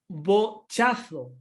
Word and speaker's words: bochazo: Bochazo porque es una llana que acaba en vocal.